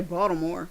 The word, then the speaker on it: Baltimore: It's like people up here when they say Baltimore, they don't say the T. They just say Baltimore.